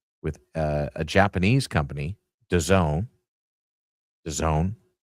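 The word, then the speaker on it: DAZN: I had phonetically because it's spelled the the acronym is D A ZN. So I don't know how you get Done out of that, but I trust you goose implicitly.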